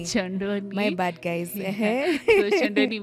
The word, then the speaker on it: Kyondoni: means a basket oh that's how it's it's pronounced choni choni my bad guys so choni means a a